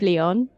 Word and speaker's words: Lyon: But Lyon, hang on a minute, the town of Lyon and the animal lion in French, Lion, it's the same sound.